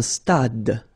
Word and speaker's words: stade: Un stade. Same thing here. Final E is not pronounced.